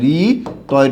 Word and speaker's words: ঋতু: হচ্ছে খেয়াল করতে হবে আমি একটা শব্দ লিখলাম ঋতু কি লিখলাম ঋতু এই ঋতু শব্দটা যে আছে এটার উচ্চারণ কি হবে রয় রসিকার ঋ তয় রসিকার তু ঋতু আমি একটা শব্দ লিখলাম জাতা